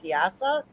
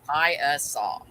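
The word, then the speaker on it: Piasa: not sure but i think it might be pronounced piazza nope it is pronounced pi uh saw that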